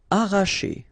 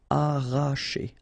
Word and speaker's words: arracher: Arracher. Okay, don't pronounce the double R, sorry, it's just like if you would have only one. Arracher.